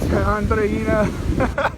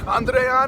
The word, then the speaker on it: Andreina: Apologies to Andreina. I said Andreana.